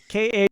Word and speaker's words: Khayrat: For those of you in the chat, it's spelled with a K-H and a Y in the middle. Khayrat.